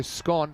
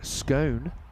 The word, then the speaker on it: scone: So, scone, how I say it, and you say it, it's common in northern England, Scotland, and some parts of Australia. And scone is common in southern England, the US, and also found in Australia.